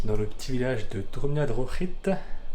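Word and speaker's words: Drumnadrochit: Voilà, je suis arrivé à ma guest house pour la nuit, dans le petit village de Drumna Drochit. Oui, ça se prononce R, le CH en gaélique, il me semble.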